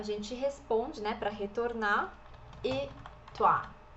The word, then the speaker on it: et: E você, a gente responde, né, para retornar, et toi. Esse E do francês, importante, a gente sempre vai escrever com um T e a gente nunca vai pronunciar esse T. Então, a pronúncia aqui é E.